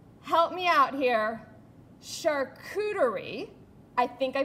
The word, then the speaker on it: charcuterie: And I'm going to say it again, charcuterie, because I'm saying it right, and I practiced it all night because I knew I would butcher it.